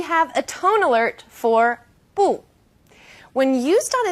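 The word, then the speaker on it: 不: a tone alert for boo when used on its own boo is fourth tone boo when bull is used before another fourth tone it becomes second tone bull or boo yo can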